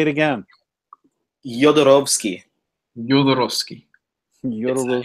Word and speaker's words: Jodorowsky: Jodorowsky. Jodorowsky. Jodorowsky. It's a soft J, and the W is like a V because he's from Chile, but his father is Polish.